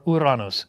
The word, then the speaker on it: Uranus: we got stuck with Uranus or uranos if you like the more Greek pronunciation well once people had